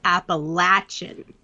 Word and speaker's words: Appalachian: see her message yes you pronounce it Appalachia like the Appalachian Mountains but the people and the culture is Appalachian and she said I